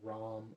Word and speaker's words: RAM: Then breathe it back into your solar plexus chakra with your next in breath with a yellow burning energy and pronounce RAM, R-A-M. RAM.